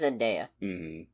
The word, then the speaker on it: Zendaya: Also, I'm pretty sure it's Zendaya. Oh, I deleted childhood memories for that pronunciation.